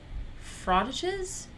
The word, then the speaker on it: frottages: Frottages?